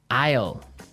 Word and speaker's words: isle: our second word now Isle Isle a i s l e is isle it's a tricky word it sounds like the contraction of I will yeah but it's spelled so strangely right we don't pronounce